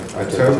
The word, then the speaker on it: Atoka: Atoka, is that how you pronounce it?